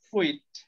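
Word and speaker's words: quit: ওকে, এটা কোয়াইট না, এটা হচ্ছে কুইট। ইংরেজিতে এটাকে উচ্চারণে খ দিয়ে উচ্চারণ করে, বাট আমরা যেহেতু বাঙালি আমরা ক দিয়েই করি।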